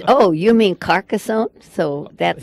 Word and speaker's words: Carcassonne: look it up and find out how to pronounce rowley about that no it's not I do know that carcassonne carcassonne carcassonne hey and you know how I